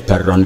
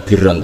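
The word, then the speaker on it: بَرًّا: Kemudian ternyata secara riwayat ma'akulli amirin barron kana au fajirun. Bacanya bukan birron tapi barron.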